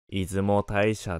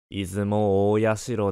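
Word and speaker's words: 出雲大社: 防ぐためである出雲大社の正式な読み方は出雲大社ではなく出雲お社である記憶し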